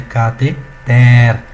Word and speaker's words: cateter: Portanto, a pronúncia correta dessa palavra é cateter. Então, aqui está a sua sílaba tônica, aqui está a átona e aqui, como consequência, a nossa átona.